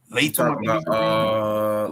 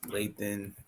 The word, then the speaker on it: Lathan: It's Lathan Ransom. Lathan Ransom. Okay, I had that all the way wrong.